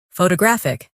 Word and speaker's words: photographic: In English, some words are pronounced with extra emphasis on one part. For example, photograph, photographer, and photographic. The stress moves, and that changes the sound.